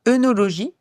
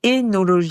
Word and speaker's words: œnologie: tu le sais, mais on ne dit pas œnologie, mais énologie.